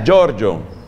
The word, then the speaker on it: Giorgio: se oye pierre giorgio que en italia no se presente se pronuncia giorgio giorgio pier giorgio frassati con